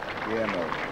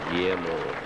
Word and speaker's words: Guillermo: And he worked it out how I could pronounce Guillermo correctly. And the first time I tried it, I stumbled over it. Guillermo. Guillermo. Guillermo Vilas.